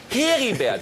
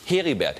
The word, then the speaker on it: Heribert: Aber eigentlich muss es heißen Heribert. Dann sagt, gib mal her. Ein R hat ja dieselbe Wirkung wie Doppel-E. Es verlängert die Aussprache des Es. Heribert.